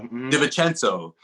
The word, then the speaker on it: DiVincenzo: Eric Bledsoe, you know, DiVincenzo, yeah, DiVincenzo. I always forget the syllable, or I always try to add it.